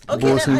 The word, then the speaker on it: boatswain: It's spelled that way. It can be spelled B-O-S-U-N. Boatswain Bay.